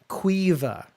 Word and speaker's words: Siobhan: Okay, the worst Irish name is Siobhan. Quiva, and you'll never guess how it's spelled. Quiva.